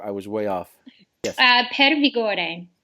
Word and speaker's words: Per Vigore: Per Vigore. Perfect. That sounds That's much. With a little bit of Italian jazz to it.